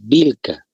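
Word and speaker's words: Willka: lee así doble Perdón se escribe así W y doble l k pero se pronuncia muchas veces vilca vamos a Ahora sí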